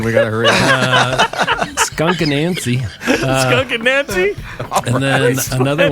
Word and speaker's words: Anansie: I looked up how to pronounce that. Anansie. Just waiting. It's only a 3-minute song, man. We got to hurry up. Skunk Anansie.